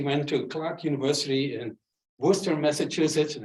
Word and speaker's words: Worcester: in Worcester, Massachusetts, and I finally figured out how to pronounce it. I think that's pretty close. When I drove to it once, I asked some locals on that because, especially for foreigners, it's really Worcester.